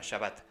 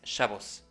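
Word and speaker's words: שבת: hebreo moderno por su pronunciación española, Shabbat, pero cuya pronunciación en yiddish europea del este de esta raíz hebrea es Shabbos.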